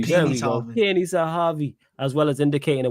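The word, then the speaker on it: Pini Zahavi: Peony Sahavi, as well as indicating a willingness to lower his salary demands in order to help facilitate a move to Barcelona.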